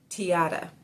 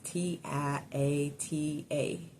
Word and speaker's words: Tiata: the the organizer and her name is tiata I want to make sure I pronounce her right her name right is T i a t a tiata and she is called